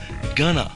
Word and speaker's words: going to: In conversational English, we often pronounce going to gonna. For example, tonight I'm going to study. Tonight I'm gonna study.